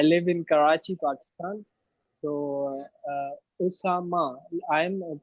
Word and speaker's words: Oussama: earning and I live in Karachi Pakistan so Osama I'm pronouncing your name right yes absolutely ok let